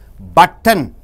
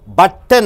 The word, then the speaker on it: button: after n t comes you are not pronouncing t after t n comes straight away you are jumping from t to n for example you see my dear friends button or sorry okay you